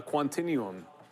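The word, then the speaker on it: Quantinuum: I remember on the quant uh quantinum, I said it right twice.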